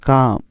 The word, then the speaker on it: COME: COME, এখানেও ইটা সবার শেষে, তাই উচ্চারণ কি হবে? কাম।